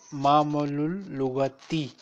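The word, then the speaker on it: مَعْمَلُ اللُّغَةِ: lab right sir okay we will pronounce it ma'mal lughati because of muzaf and muzaf ilay lughati ma'mal lughati okay sir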